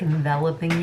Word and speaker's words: enveloping: It's like enveloping you, I think is how it's pronounced, but it looks like envelope.